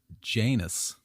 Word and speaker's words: Janus: This new date honored Janus like anus with a J. A two-faced god. That's how it's spelled. I'm just because my pronunciation might be love. Yeah. So J anus, a two-faced god who